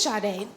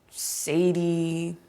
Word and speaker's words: Sade: Whenever I introduce myself to people, they either mispronounce my name, Sadie, Sad-E, not to mention the occasional shade, or I get flooded